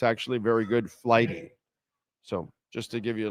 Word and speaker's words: Flighty: By the way, a tip for you: download the app Flighty. Okay, it's spelled exactly like what I said.